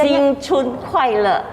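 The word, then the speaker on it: 新春快乐: Kalau dalam bahasa Cina-nya gimana sih Bu bacanya? Xing Chun Kuai Le.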